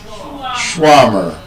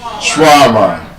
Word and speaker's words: shawarma: One of such words is that it's not shawarma, it is shawarma.